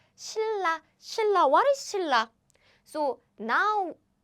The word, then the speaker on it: 신라: So yes, as you can guess, what's written is 신라, but it's easier to pronounce it if you write it like this. 신라.